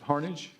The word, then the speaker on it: Harnage: It is actually Harnage. Good job. Like Carnage with an H.